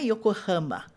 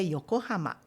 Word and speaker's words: Yokohama: Então não é Yokohama, mas é Yokohama.